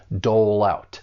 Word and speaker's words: dole out: Dole out. It's like we're taking that consonant sound and just moving it over to the next syllable.